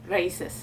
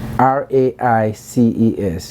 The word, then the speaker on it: RAICES: Raices. Raices is spelled R-A-I-C-E-S. R-A-I-C-E-S. Yes. Raices. Raices. Okay. Raices. That's with a Spanish accent right there.